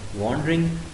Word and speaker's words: wandering: Student, be careful about its pronunciation. W-A-N-D-E-R-I-N-G. Wandering. Wandering नहीं होगा, वो तो फिर मीनिंग भी बदल जाएगा, प्रोनाउंसिएशन भी बदल जाएगा. वो अगर ओ होता तो हम क्या कहते हैं, वंडर, लेकिन ये क्या, वॉन्डर.